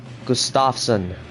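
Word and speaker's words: Gustavsson: I've been saying gustavson Gustafson that's probably right right uh emphasis on the Gus instead Gustafson gusts all right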